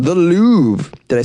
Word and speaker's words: Louvre: At that very famous gallery in Paris called the Louvre.